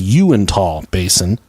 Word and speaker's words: Uintah: But the actual correct pronunciation is Uintah Basin, and I also referred to a Navajo reservation there in Utah, and they're just called Utes.